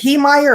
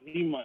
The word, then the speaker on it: Heemeyer: Yeah, I think they pronounce it Haymeyer, but it's spelled Heemeyer.